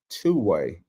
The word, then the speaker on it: 2wai: Uh it's called Two-Way, and it's pronounced misspelled uh with the number two and but W AI.